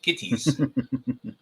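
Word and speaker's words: Gittes: now um is it Mr Gs or Mr gits yeah how you pronounce it K kitties kitties there you go uh so apparently this a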